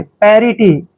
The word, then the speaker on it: parity: देखिए पी का उच्चारण हम पे कर रहे हैं, ए को ए की मात्रा पढ़ते हैं और आर को हमने रे पढ़ना है, आई को छोटी ई की मात्रा पढ़ते हैं और टी का उच्चारण ट करते हैं, वाई को ई की मात्रा लिखेंगे। पैरिटी, पैरिटी, पैरिटी होता है